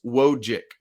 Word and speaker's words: Wojcik: All right, I want to dive in a little more to Paxson Wojcik, which, by the way, I've been pronouncing that C, Wojcik. It's just Wojcik.